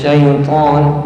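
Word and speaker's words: شيطان: Sebagai orang bacanya itu di huruf tho ada percikan udara audzubillahiminas syaiton minas syaiton nirojim ini bukan huruf ta Yang dibunyikan oh ini hati-hati ya nanti jatuhnya ke huruf ta 'a syaiton kemudian huruf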